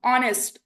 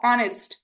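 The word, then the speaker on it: honest: तो इट is being starting and being pronounced from a wall sound. ऑनेस्ट अ ऑनेस्ट।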